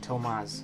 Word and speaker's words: Tomas: with tomas interesting also don't you dare pronounce it like thomas his name is pronounced kind of like tomas i think i kind